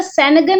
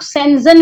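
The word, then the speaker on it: Schengen: सेंजन visa यानी कुछ लोग उसका सेनगन उच्चारण करते हैं, कुछ लोग सेंजन वीजा बोलते हैं।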